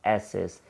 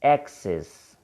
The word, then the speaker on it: access: Normally, we pronounce it like S's. Okay, it's not S's, it's X's.